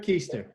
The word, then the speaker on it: Keister: called his friend how do you say your last name Easter Easter keister so I knew it